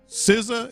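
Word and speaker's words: SZA: of Kendrick Lamar and siza is how you pronounce it right yeah uh and you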